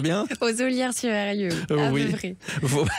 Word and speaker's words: Ollières-sur-Eyrieux: Comment une championne et chef d'entreprise installée en Ardèche à Ollières-sur-Eyrieux, je le prononce bien? Aux Ollières-sur-Eyrieux, oui.